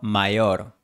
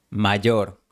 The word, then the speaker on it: mayor: mi hermano mayor, Quizás tú pronunciarías mi hermano mayor, pero el profesor Celorio no pronuncia mayor, sino mayor. Él usa un sonido con fricción.